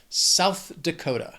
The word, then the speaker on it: South Dakota: This state has 4 syllables, but the stress is going to be on that second word, Dakota, that second syllable, Dakota, South Dakota.